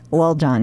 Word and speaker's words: Lil Jon: So recently, Lil Jon, gotta say it like that. Okay, Lil Jon. Lil Jon. I think you held a little hard on the Lil. Well, I don't want to say Little John, because then I sound